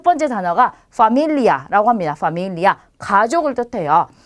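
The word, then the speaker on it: familia: 그래서 발음은 영어랑 똑같이 F 발음처럼 해주시면 돼요. 그래서 파밀리아, 페차, 펠리스 이렇게 발음하시면 되겠습니다.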